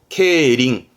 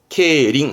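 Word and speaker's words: 競輪: 되겠습니다 그리고 요게 경자 경쟁의 경자이 경륜 발음은 케링 케링 그 예를 들어서 말 가지고 경쟁하는 건 경마 그건 케바 케바 합니다네 지금은이 바퀴 이름 자는 자전거를 의미해서 자전거 가지고 경주하는게 경륜 케링 케링 합니다 그래서 요게 아까 했던 주차의 주자주 그러면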